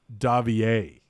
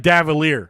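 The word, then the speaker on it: Davillier: is will says it's davier nico davier it looks like davalier but it's french so it's davier i do expect him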